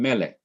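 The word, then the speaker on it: מֶלֶךְ: is the second syllable notice also that ordinarily the last syllable would be accented but it is not accented in melik the syllable that is accented in melik is not the last syllable but it is the syllable immediately before the last syllable that syllable is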